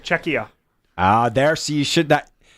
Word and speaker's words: Czechia: This evening, Canada, Czechnia. Did I say it right? No. What? You keep adding an N. There's no N. It's just Czechia.